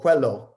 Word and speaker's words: Cuello: Then we have Professor Joel Cuello, or Cuello, as the Filipino pronunciation, as he taught us a few days ago.